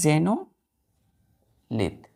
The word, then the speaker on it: xenolith: एक्स है तो एक्स को हम क्या पढ़ेंगे, प्रोनाउंस करेंगे जे, तो एक्स जेनोलिथ, XENOLITH।